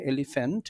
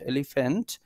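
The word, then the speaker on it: elephant: এভাবে ধরে নিতে পারি পি এইচ এইটা উচ্চারণটা এফ এর মত হচ্ছে এলিফ্যান্ট এলিফ্যান্ট এই হিসেবে আমরা এখানে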